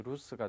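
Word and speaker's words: 留守: 문제 보시면 타다이마 자, 부재중이라는 의미의 한자가 되었는데 발음이 특이하게 나죠. 정답은 D의 루스가 되겠습니다.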